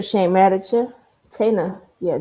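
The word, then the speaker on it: Taina: Uh, we got G Herbo and Tayana Williams. Did I say her name right? Tana, you got to ask like I did not say it right.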